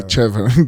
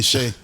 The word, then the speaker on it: Che: But how do you say chocolate? You don't say chocolate. Chocolate. Chocolate. Why do we do that? Why do we say Shea? I don't know. Shay. This It's CHE. How do you pronounce CH? And then he has an apostrophe in the E, so it's I think Che.